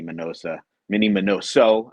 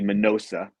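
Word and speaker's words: Miñoso: my favorites here, Mini Minoso. I always pronounce his name wrong, so if you hear me say Minosa, just correct me in your head.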